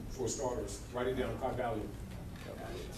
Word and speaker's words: Kybalion: Write it down, Kybalion. How you spell it, Tom? How you spell that? K-Y. Kybal, just like lion.